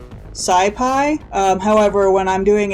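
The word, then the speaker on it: SciPy: with phds this is pronounced numpy this is pronounced scipi um however when I'm doing it in you know in my head I always pronounce it numpy and Skypey because as we might discover I am not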